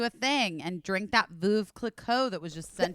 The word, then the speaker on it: Veuve: How do you pronounce it, Busy? Veuve Clicquot. Is it Veuve? Okay, so yeah, it's It is Veuve.